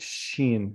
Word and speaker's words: shin: You see here, the dot is the left side is sin. You pronounce it as sin. But if it's on the right side, you pronounce it shin.